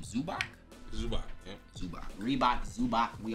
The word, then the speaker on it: Zubac: With Kawhi and Zumba. How do you say his name? Zubac? Zubac, yeah.